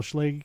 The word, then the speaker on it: Schlage: Well, Schlage Schlag is coming out with the Schlag. She's like, You're right, it rhymes with vague.